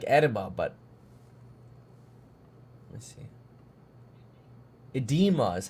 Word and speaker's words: edema: it's spelled like Eda but let me see edema is how it's pronounced EMA okay love that app just go